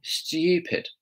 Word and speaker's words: stupid: She kind of actually emphasises the T. And a lot of British people do that. So they kind of, there are variations. So she's kind of saying, stupid. How could I be so stupid? She's not saying stupid. You can kind of hear that T sound in there.